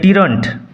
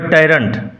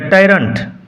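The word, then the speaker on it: tyrant: Everybody hated ম্যাগবেদ টিরন্ট। Sorry উচ্চারণ হবে টাইন্ড। Everybody hated ম্যাগবেদ টাইন্ট।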